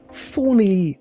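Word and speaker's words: Fani: they're actually going to be able to pull Fawny Willis? That's her name, isn't it? Fawny. You're not pronounce it Fanny, do you?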